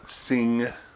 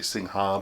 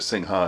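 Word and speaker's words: Singha: Some people say Sing-Ha, but I actually found out, I was reading somewhere, and it's not pronounced Sing-Ha. The Ha part is like the P in psychiatrist. Oh, okay. In Thai.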